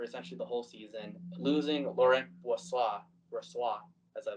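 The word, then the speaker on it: Laurent Brossoit: the whole season losing Lauren Boise as I like to say and that's how his name is pronounced by the way a little French right there he's injured to start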